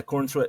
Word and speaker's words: Corenswet: Let let's start with uh uh freaking uh and is it Cornswe? Is that how you say his name? Yeah, corn sweat. Yeah, Cornswe.